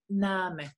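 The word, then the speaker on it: Name: se escribe con minúscula en alemán la pronunciamos como en español nam igual quieren repetir conmigo para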